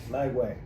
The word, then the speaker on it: Lagway: I always get his name wrong. Lagway. Lagway. Not Langley.